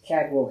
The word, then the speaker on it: Caldwell: Yeah, it was always pronounced up there in those days, Cadwell Hill.